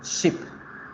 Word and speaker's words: ship: La palabra barco, que es ship, yo la pronuncio, vamos a buscarla acá en el diccionario, la pronuncio con la I corta, para ponerle los símbolos correctos. Miren, ship.